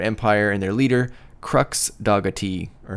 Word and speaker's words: Dogatie: defeat the Jupiter Empire and their leader, Crux Dogatie. Or how would you say his name, Isaac? It's Crux Dogatie.